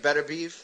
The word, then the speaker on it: Beterbiev: I don't know how to pronounce it. I think it's like Beterbiev.